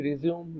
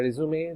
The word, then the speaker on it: resume: আবার বলছি রেজিউম বা রেজুমে দুটো প্রোনাউন্সিয়েশনই সঠিক, ব্রিটিশ আমেরিকান দুভাবেই এটা উচ্চারণ করা যায়।